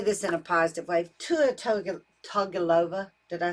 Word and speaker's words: Tua Tagovailoa: Tua Tagovailoa, did I say his name correctly?